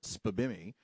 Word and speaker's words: SPBMI: like like my favorite SPAMI. Uh that's just an acronym pronounced out.